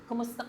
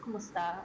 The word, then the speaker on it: Kumusta: Kamusta ka is like how are you? Kamusta ka? Yeah, but like more colloquially, it's like just kumusta or Kamusta.